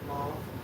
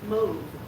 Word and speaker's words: mauve: Finn Godwolf says when Alan said the word mauve the other day, he pronounced it mauve. It's actually pronounced mauve with a long O.